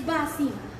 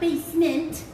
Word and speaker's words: Basima: was elizabeth it's not it's basima no not basement ba sima it means smile in